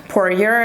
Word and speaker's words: Poirier: said that about this uh dustin guy destin poor year i believe his name is the way his name is pronounced and i think that that i i